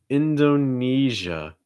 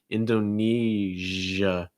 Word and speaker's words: Indonesia: pleasure or leisure indonesia to make that jo what you do is you kind of it's not the front of your tongue it's like the middle of your tongue so like right there that's the part that's going to make contact with the top of your mouth and then you should feel it make sure your throat's vibrating so it's not sh it's